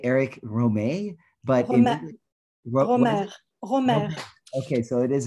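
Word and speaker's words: Rohmer: i would say eric romey but okay so it is a we do pronounce the art good eric romero because it that's all you over here especially you know the english-speaking world is romer well romer i suppose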